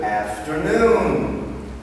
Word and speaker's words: afternoon: no uh-uh afternoon good afternoon let's try it again good afternoon the intonation and accent is on the last syllable good afternoon one more